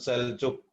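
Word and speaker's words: Selçuk: Jadi tulisannya pakai C, tapi kita bacanya pakai J, sehingga kadang kita nyebutnya Seljuk, tapi tulisannya di sana Seljuk.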